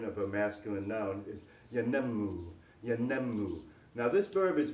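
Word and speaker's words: ينمو: rhythm in the pronunciation, yanammu. Although the accent falls on the second syllable, the third syllable is longer in duration. So it's yanammu.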